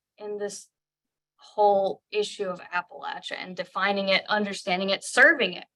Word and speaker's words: Appalachia: and forth on this issue of how to pronounce this place we now call Appalachia. I say Appalachia. I went to Appalachian State. Some people say Appalachia. I don't really, you know, in Pennsylvania, it's very common to say Appalachia.